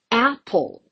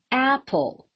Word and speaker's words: apple: I put it at the beginning. It falls on the first syllable. So I do say apple, apple, just like climbing down the stairs. Apple, apple. I never say apple, which sounds really weird and odd.